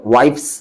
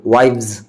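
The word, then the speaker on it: wives: यहाँ पर वाइफ्स नहीं पढ़ेंगे, वाइव्स, नाइफ, के को यहाँ पे साइलेंट रखेंगे, के को क्या करेंगे, साइलेंट रखेंगे, बिल्कुल साइलेंट।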